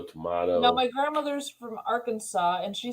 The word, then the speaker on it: Arkansas: is our Kansas no this is Arkansas but it's spelled like Kansas on the thing Arkansas